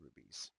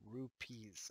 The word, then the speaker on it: rupees: point seven five indian rubies so indian rupees i gotta pronounce that correctly they're not rubies rubies are gems rupees are currency okay so now just